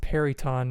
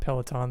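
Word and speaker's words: Peryton: pronounced Periton, not Peloton.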